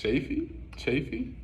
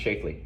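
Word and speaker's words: Schlafly: From Phyllis Chafee? Is it I think it's pronounced Shafely.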